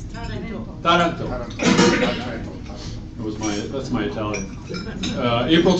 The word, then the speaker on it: Taranto: Sounds like Toronto, but Taranto, Italy. How do you say it? I think it's Taranto.